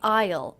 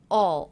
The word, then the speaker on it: I'll: I pronounced that contraction I didn't say Isle Isle I said all all so it sounded a lot like this word in fact it sounded just like this word all all i used the aw as in law vowel sometimes all sometimes I'll